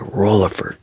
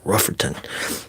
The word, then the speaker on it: Rutherford: They instead of saying Rutherford or Rutherford, they'll say Rutherford. They'll be like Rutherford or Riftherton. Or some of them are even worse and they'll just say Rufferton. R U F E R T O N. Rufferton.